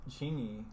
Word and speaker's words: Chingy: And actually, right there, I'm pretty sure was Chingy. Because I actually had his album too. Who is Chingy? Chingy. Is that spelled like it sounds?